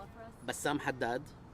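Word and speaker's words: Bassam Haddad: aess my name yes please can can you spell it for us Bassam Hadad b a SS a m a h a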